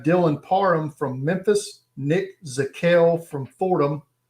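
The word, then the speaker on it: Zakelj: But you have Dylan Parham from Memphis, Nick Zakel from Fordham, the J is silent, Cole Strange from Chattanooga,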